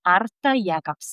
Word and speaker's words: Arta Jēkabsone: And I'm sitting here today with my dear friend and amazing Latvian musician, Arthur Yagabs. Come on. I just learned to pronounce her name kind of.